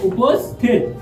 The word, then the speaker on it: উপস্থিত: উপমা ভিউয়ার্স পরবর্তীতে দেখো উপস্থিত ভিউয়ার্স উপস্থিত বানানের উচ্চারণ যদি উ পোস্থিত উস স্থির উস পোস